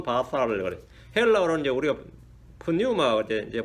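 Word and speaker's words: πνεῦμα: 헬라어로는 이제 우리가 푸뉴마 이제 보통 이제 앞에 P를 발음 안 하니까 뉴메릭, 영어에서는 P를 발음 안 합니다. 뉴메릭, 뉴, 그렇게 해요.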